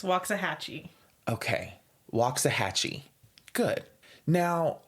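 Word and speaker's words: Waxahachie: cities MH including Cedar Hill Grand prair and waxah hatchee and I know that that city is not pronounced waxah hatchee waxah hatchee no Cameron really what is the pronunciation it's waah hatchee okay waah hatchee good now all of these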